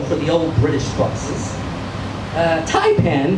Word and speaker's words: Taipan: Taipan, whose Cantonese pronunciation, by the way, is more accurately rendered Taiban.